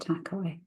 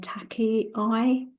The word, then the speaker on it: Takei: Now that name is spelled Takei. So we're going to pronounce it Takei. Because initially I wanted to say Taki-I, but Yeah.